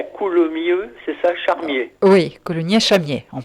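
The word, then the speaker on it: Coulounieix-Chamiers: Oui, Coulommiers-Charmier, on prononce.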